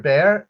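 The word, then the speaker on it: Bexar: This is the Beexar Bear. And you've heard me and Justin talking about these the tactile term bay. The tactile term bay with an X in the middle of it.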